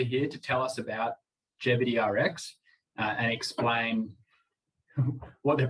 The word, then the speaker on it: Gevity: with the name sorry i was pronouncing it deputy rx and then my fiance grace was like it's definitely jeopardy as in longevity uh and that yeah